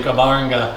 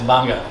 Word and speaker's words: Gbarnga: and we are up near the city of banga so i give you the pronunciation everybody wants to say gabaranga what is banga uh so it was uh a country started